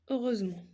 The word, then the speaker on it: heureusement: عندنا heureusement نكتبو heureusement dans le mot heureusement prononce-t-on le H؟ واش كنقراو le H؟ Non.